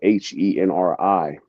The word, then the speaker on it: Henri: which is actually spelled H E N R I. The H is silent. It's a French name, Henri. That's how they say it in France.